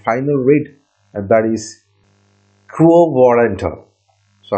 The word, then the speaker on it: quo warranto: Now we are moving to the last and final writ, and that is quo warranto. So how it is being pronounced?